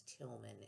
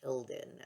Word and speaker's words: Tilden: I accidentally pronounced your name as Tilman in one of my videos. It's Tilden.